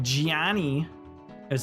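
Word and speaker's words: Gianni: guy named Johnny but you have to say his name like Gian it's not Johnny it's Giani got to say it with the accent relle how you doing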